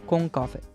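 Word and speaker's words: コンカフェ: You have maid cafes, and you have concept cafes, or how they say it in Japanese, Concafe.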